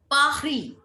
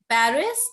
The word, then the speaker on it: Paris: and English, but there is nothing like r in French. It's r, like a little coughing sound from your, what is this, epiglottis. So we Pahri, Pahri. Ma'am, can you give the example of what that?